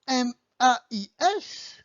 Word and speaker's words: mais: So you also have M-A-I-S, pronounced mais, which is but in English, or maïs, which is corn.